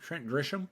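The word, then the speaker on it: Grisham: Trent Gisham.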